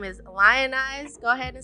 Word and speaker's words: Lion!ze: So the name is Lionize, so it's spelled Lionize, but I turned the I upside down. That's why the exclamation mark is there.